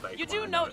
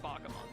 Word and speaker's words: Bakemon: Yeah, you know that that's not how you pronounce its name. It's Buck, yeah, but because it's the English word for bake. It's B-A-K-E, bake. Yeah, but it's pronounced Bakamon though.